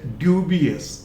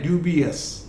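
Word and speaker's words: dubious: Then next है ड्यूबियस, ड्यूबियस, नॉट यस, हल्का सा है ड्यूबियस.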